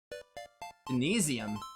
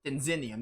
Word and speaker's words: Denzinium: Denizenium, or Denzinium? Denzinium, that's how you say it.